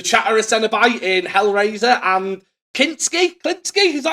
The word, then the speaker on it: Kinski: He was the Chatterer Cenobite in Hellraiser and Kinski, is that how you pronounce it, in Nightbreed?